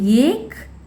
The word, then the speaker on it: एक: ஏன்னா ஒரு வேர்டோட எண்டிங்கில் வர கான்சனண்ட்டை எப்பயுமே நம்ம ஹாஃப் கான்சனண்ட்டாக தான் ப்ரொனவுன்ஸ் பண்ணணும். அதாவது இப்போ கான் இருக்கிறத இக்குன்னு பாதியாக தான் ப்ரொனவுன்ஸ் பண்ணணும். அதே மாதிரி இந்த வேர்டில் ல இருக்கா எண்டிங்கில், ஆனால் அதை நம்ம இல்லைன்னு தான் ப்ரொனவுன்ஸ் பண்ணணும். இது ஏக், இது கல்.